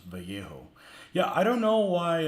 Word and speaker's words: Vallejo: somebody tries to pronounce Vallejo yeah I don't know why um some people just have trouble with Spanish words I mean two L's is a y you know there's